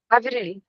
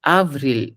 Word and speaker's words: Avril: It's Avril. Okay. The A is a little A. I mean, it's not as Avril. subtle. It has to be pronounced as A, just like the usual A we do.